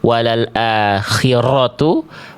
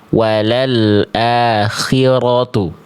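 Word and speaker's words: وَلَلْآخِرَةُ: Jadi enggak dibaca walal akhiratu ataupun walal akhiratu tapi kita baca walal akhiratu. Getarannya ada tegas tapi enggak berlebihan.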